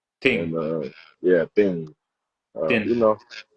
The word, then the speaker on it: Tinh: So, my last name I pronounce it thing. That's how I pronounce it. And uh yeah, thing, you know, it's a Vietnamese last name.